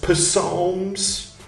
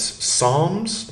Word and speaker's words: Psalms: on I can expound PS psms pomes that's how you pronounce that no that's not how you pronounce I can expound Psalms and Prophets Psalms like Palm p a l m Palm pom never mind s